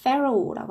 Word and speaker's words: Pharaoh: 그 다음 얘들아 이거 우리 파라오 하지만 영어 발음은 좀 달라. Pharaoh라고 합니다.